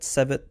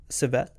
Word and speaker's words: Silvett: Silvett? I mean, that was kind of a joke doing the second T, but you can pronounce it that way if you want.